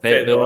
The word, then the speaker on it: Fayetteville: Fayetteville.